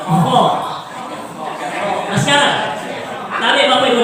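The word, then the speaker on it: خ: Cara membacanya ini yang saya garis bawahi Bu, cara membacanya supaya dia tebal, maka dia mesti dibunyikan dengan bunyi O. Contoh, so, do, to, lo, ko, kemudian kho. Harus siker itu ya, kho.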